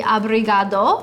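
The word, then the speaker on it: obrigado: And for a male, it's going to be abriad.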